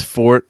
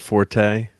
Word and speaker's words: forte: pronounced karate yeah and excuse me it's Fort it's not Forte you know that's actually